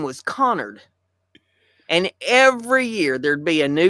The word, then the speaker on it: Connard: a new teacher, and every year the new teacher would pronounce it Canard. Wow, and so we all got so that we were ready. We were ready. They pronounce it Canard, and like a chorus. Oh no! It's Connard.